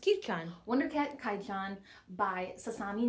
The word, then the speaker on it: Kyuu-chan: this this series this is wonder cat kaichu kai chan it's actually pronounced kuchan wonder cat kaijon by sasami natori and this